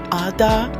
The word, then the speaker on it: Adah: I'm your host, Princess Adah, pronounced Adah, and today we will delve into a discussion concerning the very profound subject of love.